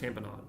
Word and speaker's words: tamponade: They don't say lemonade but you know whatever it's pronounced tamponade granuloma with giant cells after ferangeal infection ashoff bodies rheumatic fever.